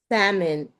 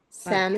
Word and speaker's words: salmon: What color? Salmon. Black cat. Salmon.